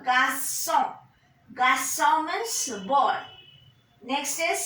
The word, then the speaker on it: garçon: And GARC Sedilon garçon. GARC Sedilon. ON is nasal vowel. Garçon.